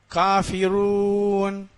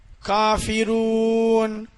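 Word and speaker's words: كافرون: இந்த ராவை வல்லினமாக, அதாவது வாய் நிறைய உச்சரிக்க வேண்டும். எப்படி? காஃபிரூன், ரூன், அந்த ராவை நல்லா வாய் நிறைய உச்சரிக்க வேண்டும்.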